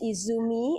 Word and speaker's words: Izumi: confused myself I'm sorry uh Miss Izumi I mispronounced your name earlier please forgive me I